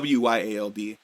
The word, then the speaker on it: Wyald: And we get the most fucking terrifying picture and a full reveal of Wild, Wild, however you want to pronounce it. It's Wyald.